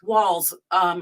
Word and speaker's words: Walz: Walz, like Walz.